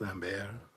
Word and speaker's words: Lambert: His name is, it's pronounced Lambert. I used to call him Christopher Lambert, but I got told off once because of it. It's Lambert. So, but yeah, there's the other video there.